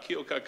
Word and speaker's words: Keokuk: Someone mentioned that they are from Keokuk. Am I pronouncing that right, Iowa? Keokuk, Iowa.